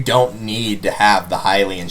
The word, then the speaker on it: Hylian: And technically, you don't need to have the Hylian Shield or Hylian Shield. I'll probably just call it Hylian for those of you that don't like that pronunciation.